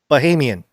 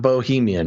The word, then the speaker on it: Bahamian: But not Bohemian, which is what you first said.